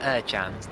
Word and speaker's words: Ercan: Thank you to Ed Hunter for correcting our pronunciation of Arda Ercan's name. Ercan, of course, being the Turkish pronunciation, or as close as I can get to it.